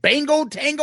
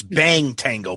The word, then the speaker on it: Bang Tango: Is it Bango Tango or Bang Tango? No, you're wrong. I just laugh at you because you say it wrong. It's Bang Tango, but it's funny when you say Bango Tango.